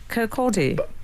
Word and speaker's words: Kirkcaldy: He's a Scotsman, but I'm pretty confident it's Kirkcaldy. Al, how do you say it? Kirkcaldy.